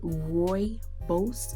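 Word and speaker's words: rooibos: me vitamin c with moisturizer with probiotics and roy bose is it i can't pronounce that but the word is r o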